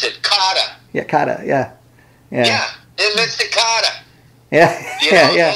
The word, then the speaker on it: Kotter: You know, so, you know, it's so weird how the accent of Brooklyn affected the spelling of the name.